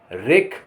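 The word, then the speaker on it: wreck: WREC, रेक।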